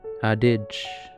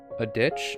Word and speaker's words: adage: Adage. It's pronounced adage. Adage. I cannot handle... Wait. Adage. Old familiar saying. A ditch?